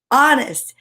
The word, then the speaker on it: honest: And you know what's wild about it is you don't even know the H is there because we don't say be honest. It's honest.